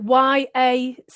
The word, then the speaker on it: yacht: the door uh this yacht is beautiful like this this don't worry spell the word is it y-a-c-h-t uh okay yeah the pronunciation pronunciation is yacht like what like y o t y yeah don't worry